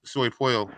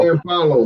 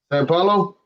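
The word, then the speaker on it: São Paulo: But I also want to hear this Soy Paulo. How you say that? How you like the food in Brazil? Sao Paulo, man. How you say it? Sao Paulo.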